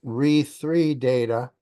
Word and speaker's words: re3data: And that's pronounced RE3 data identifier, if you like.